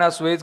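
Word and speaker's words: assuage: एसुएज इसको उच्चारण क्या है? इसका असुएज करना। अस्वएज करना। यह इसका उच्चारण अस्वेज करना।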